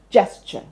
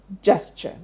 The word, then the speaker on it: gesture: And in the end, we have a schwa, the special sound that goes, gesture, gesture, gesture.